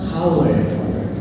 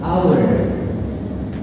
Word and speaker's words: hour: Howard. They want to say jam. Howard, but the correct pronunciation is hour.